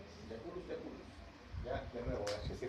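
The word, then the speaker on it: Jaculus: Cuando hay una J, se pronuncia como Y. ¿No conocen esta especie? ¿Ratoncito del desierto? De África, no de acá. Es de África. Ya. ¿Cómo se pronuncia? Yaculus, yaculus.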